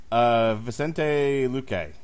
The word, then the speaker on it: Vicente Luque: Your last name pronunciation was correct. Vicente? Vicente. Vicente Luque.